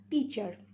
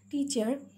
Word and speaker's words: teacher: Teacher. Okay, teacher. See, T is one syllable, char is another syllable. Here also A is silent.